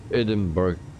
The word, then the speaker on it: Edinburgh: our mission impossible The Landing Rob Brown uh pronounce Edinburgh as a hidden um Burger Edinburgh it didn't burn uh okay uh I will